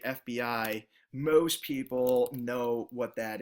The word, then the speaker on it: FBI: What that does is that communicates to the anchor that those letters are meant to be read individually. FBI, not FB.